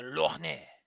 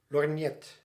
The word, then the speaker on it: lorgnette: But it can also be called a lorgnet. Lorgnet. It's French, so you just ignore half of the fucking syllables. Half of the... just... Lorgnette. It's French. The consonants are going wild.